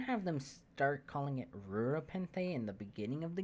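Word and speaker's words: Rura Penthe: Ura, Penthe. But the first R is silent because reasons?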